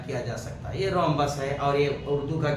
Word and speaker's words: rhombus: اس کو کس طریقے سے بہترین انداز میں تلفظ کے ساتھ ادا کیا جا سکتا ہے۔ یہ رومبس ہے اور یہ اردو کا کیا ہے؟